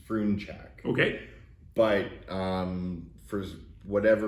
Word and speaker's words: Frunchak: down to it it's the proper pronunciation is froon check okay but um for whatever reason people seem to struggle with that so we just say friend check okay and we just